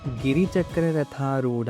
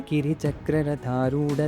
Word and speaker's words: ಕಿರಿಚಕ್ರರಥಾರೂಢ: 27ನೇ ಶ್ಲೋಕದಲ್ಲಿ ತುಂಬಾ ಪುಸ್ತಕಗಳಲ್ಲಿ ಗಿರಿಚಕ್ರರಥೂಡ ದಂಡನಾಥ ಪುರಸ್ಕೃತ ಅಂತ ಕೊಟ್ಟಿದ್ದಾರೆ ಇದರಲ್ಲಿ ಎರಡು ತಪ್ಪಿದೆ ಮೊದಲನೆದು ಅದು ಗಿರಿ ಚಕ್ರ ಅಲ್ಲ ಕಿರಿಚಕ್ರ ಕಿರಿ ಅಂದ್ರೆ ವರಾಹ ಕಿರಿಚಕ್ರ